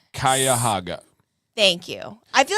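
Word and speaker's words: Cuyahoga: Kaya Haga. Thank you. I feel like I was kind of close though. Yeah, it's kind of how it's written, but you would assume it's not.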